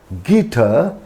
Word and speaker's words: guitar: U is often silent after a G and before a vowel. So, if there is G, then U, then a vowel, then G is often silent. For example, colleague, God, guest. You can notice here U is just after G, and after U there is a vowel. So U is silent.